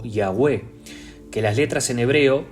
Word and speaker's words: Yahweh: Porque ese nombre, Yahweh, que es la forma que tenemos de decirlo, usted lo pronuncia cada vez que respira y expira. Esos dos sonidos son los que se asemejan más a la pronunciación del nombre del Señor.